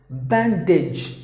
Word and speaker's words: bandage: The next word is bandage. Usually words ending with AGE, we usually give the long sound. As I said in the beginning, sometimes if there is a short sound, we pronounce it with a long sound.